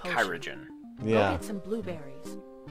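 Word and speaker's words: Kyragem: Pronounces it like it's a Kyra gem. Everybody else pronounces it like Kyrogen.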